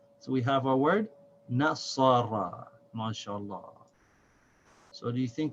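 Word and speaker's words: نَصَرَ: So the noon with fatha is na, sad with fatha is sa, ra with fatha is ra. So this is pronounced nasara, nasara, nasara.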